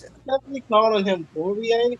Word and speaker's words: Poirier: It's definitely calling him Poirier. It's Poirier. Poirier. No, it's Poirier. Oh. Anyway, because of the IE at the end, I believe that's how it's pronounced.